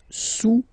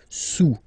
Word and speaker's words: sous: Le cube est sous le cylindre, okay, le cube est sous le cylindre. Don't pronounce the final S, and then this OU combination of vowels is pronounced OU, okay? Sous, sous.